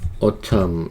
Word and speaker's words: autumn: 지금 autumn 있었고, fall도 가을이란 뜻이에요. 있어요. 그죠? 가을이란 뜻은 두 가지가 있습니다. fall이 있고, 또 하나는 autumn 이렇게 있고, 끝에 있는 n이 발음이 나지 않아요.